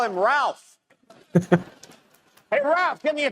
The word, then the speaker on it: Ralph: win tonight, we all get to call him Ralph. Hey, Ralph, give me a towel. I don't understand that joke. Because his name is spelled like Ralph, but you call him Tell if Rafe.